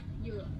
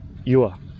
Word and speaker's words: dừa: How do you pronounce banana? Chuoi? Chuoi? Chuoi? Banana? And dua? Coconut? Yua. Yua.